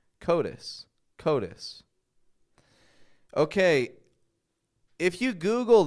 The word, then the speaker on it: coatis: Notice the flap T in there. Coatis.